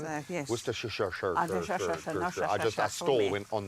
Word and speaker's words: Worcestershire: I say Worcester sauce like the Worcester town. sauce, yes. Worcestershire.